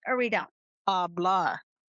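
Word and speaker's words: hablar: Ablah. No. Ablah. That's right. H is silent.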